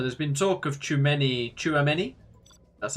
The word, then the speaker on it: Tchouameni: So, there's been talk of Tchouameni Tchouameni.